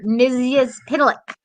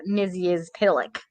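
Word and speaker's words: Mxyzptlk: how you defeat him and it is mr mizus pitilic uh and it looks like travis got that right i love that i can't pronounce like regular words but i can now say mizzy is pillock it takes years of practice but you got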